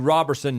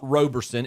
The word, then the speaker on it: Robertson: at this point uh TC Robertson not Roberson is shutting out Smoky Mountain y'all kill me with your pronunciations uh Robertson shutting down